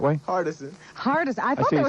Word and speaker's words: Hardison: Hardison. Hardest. I thought see there it's- was an R in I it. say it Hardison.